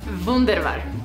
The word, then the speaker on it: Wunderbar: wunderbar que como la que se pronunciaba un der vaart un del val que es alemán alemán y me estoy